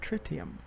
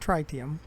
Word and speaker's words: tritium: and start delivering tritium that's what frontier says the pronunciation of it is tritium not try TM tritium so we're going to